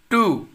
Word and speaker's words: two: Two. Two. W is silent here.